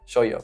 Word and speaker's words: shoujo: Shoujo, shoujo, como el no yo-yo. Pero se pronuncia shoujo.